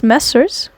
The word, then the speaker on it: Messrs: Okay, so it's MESSRS, which I would pronounce Messers, but admittedly have no fucking clue what the hell that is.